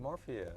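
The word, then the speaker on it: morphea: we're talking about morphia you said it right morphia Doug is Doug is really on point yeah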